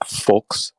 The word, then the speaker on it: Volkswagen: The V is pronounced a little bit more like an F in the German language, so it's like Volkswagen.